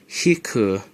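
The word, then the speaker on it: 引く: And the other one is hiku. The equal sign in math can either be pronounced equal or or wa.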